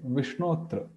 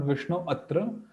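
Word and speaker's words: Viṣṇo'tra: So when we have to pronounce it, this thing, we do not pronounce it separately because it's deleted. A Rama is deleted. So this comma means it's deleted, apostrophe. So we say Vishnotra, not Vishnu Atra, Vishnotra, simply Vishnotra.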